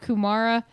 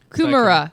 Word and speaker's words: kumara: I said it wrong apparently it's not kumara it's kumra kumra Kuma fry pipes I'm